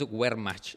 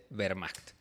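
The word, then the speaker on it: Wehrmacht: La W se pronuncia como B, así que la Vermacht no es wmch, es Vermacht."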